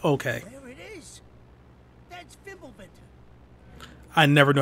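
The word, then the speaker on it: Fimbulventr: That's Fimblebinter. I never knew how to pronounce that before this game, by the way.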